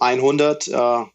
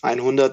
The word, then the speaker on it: EINHUNDERT: So, Ernesto, tell me, you are the founder of, do I pronounce it correctly, EINHUNDERT Energie? Exactly. So EINHUNDERT as the number 100, EINHUNDERT, and then it's Energie.